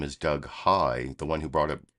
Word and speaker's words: Heye: his name is Doug High the one who brought up Cheech and Chong uh his name is Doug High I'm not making that up it's spelled h-e-y-e but that is his